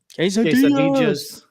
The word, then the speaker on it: quesadillas: Ese Fernando Quesadillas. Looking forward to, in Spanish, the double L, we're always taught because, Western culture is eye, but like in South America, they pronounce it eje, like a J sound.